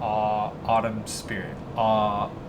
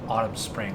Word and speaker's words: Autumn Spirit: my previous videos and I mispronounced the name, but it's actually called Autumn Spirit. Autumn Spirit, yeah. Because I fucked it up the first time because I said it was Autumn Spring.